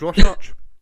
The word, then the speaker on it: Rorschach: It's Rorschach.